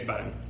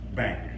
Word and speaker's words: Bang: Claes Bang. Bang. Yeah. Not bang, but bang. Bang. Claes. In Swedish you say Claes Bang, but yeah.